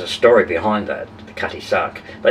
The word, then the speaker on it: Cutty Sark: ship this cutty shard it's not cutty shark it's cutty sark but cutty suck could